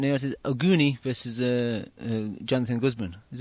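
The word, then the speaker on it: Oguni: to um the other card how do you pronounce this guy's name is auni versus uh Jonathan Gman is it auni yeah yeah yeah you got you got you got it right you got it right yukinori ooni versus Jonathan Guzman this was another fight that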